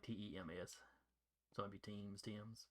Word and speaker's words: Thames: Yeah, it's pronounced like Tems. So it'd be Teams. Thames is usually how I hear people say it.